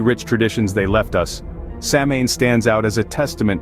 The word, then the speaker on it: Samhain: Traditions they left us samine stands out as a testament to their profound connection with nature and the spiritual World samine pronounced as sawin marked the end of the